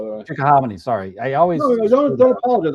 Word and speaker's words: Chickahominy: Where we are is pushing, east of Richmond, coming over the Chickahominy up here by I think it's pronounced Chickahominy, by the way. Chickahominy.